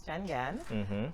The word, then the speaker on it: Changan: right Janelle so give us the history of changan am I even pronouncing it properly yes you are so it's changan and of course um everything's started of course